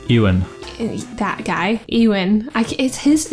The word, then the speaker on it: Ewan: Ewan.